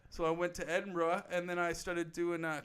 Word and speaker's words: Edinburgh: And my father said his favorite city in Europe was Edinburgh. Yep. Or Edinburgh, as I hear Americans pronounce it.